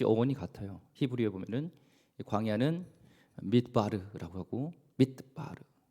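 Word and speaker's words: מדבר: 히브리어에 보면은 광야는 mid바르라고 하고 mid바르 발음이 그렇습니다.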